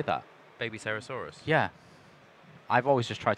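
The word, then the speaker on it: Babycerasaurus: Electing to start with the Soul-Eating Overraptor to search the Baby Cerasaurus. Baby Cerasaurus. Are you going to struggle with this? Wow, that was awesome. I've never heard anyone say that. Baby Cerasaurus.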